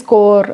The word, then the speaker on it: Corps: Okay, so you might have heard like Peace Corps and all those things. P is silent there when CORP.